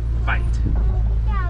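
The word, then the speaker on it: wyd: That name comes from the mispronunciation of the old Afrikaans word, bite.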